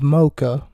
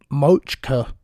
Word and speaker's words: Mocha: My name is Mocha. That's very important for this broadcast, that you get that right. Because some of us are from Kentucky, and we do not know how to say the words Mocha. It's okay, because James Ellsworth got it wrong too. He called me Mochka, I think, in the shout out